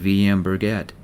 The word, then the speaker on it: VM-Bjerget: I think you’d really like VM-Bjerget (pronounced v m bier get), its also called the Mountain.